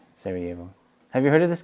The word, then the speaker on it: Sarajevo: about the cellist of sir sorrow how do you say that Sarajevo but that Jane throws me off Sarajevo have you heard of